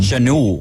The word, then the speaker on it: Schanuel: It's like Emmanuel, but I would say Schnall or something. Schnall. We're just going to go with Nolan. Schanuel. He was a Schanuel.